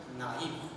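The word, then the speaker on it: knife: Then next word, naive. So when the word begins with the letter K, K-N-R-F, but actually when you pronounce the word, K becomes silent and it has the pronunciation naive.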